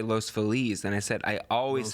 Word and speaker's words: Los Feliz: Yeah, Yeah, that's like Feliz Navidad.